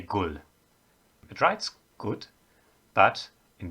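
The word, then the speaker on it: gud: in danish people say gul it writes good but in danish most of the time the d at the end of a word is pronounced like an l so it's gul in norwegian in swedish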